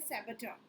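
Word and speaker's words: saboteur: और ये वर्ड देखो, ये वर्ड गिवन है आपको सैबचा, इसका प्रोनाउंसिएशन क्या है, सैबचा, ठीक है।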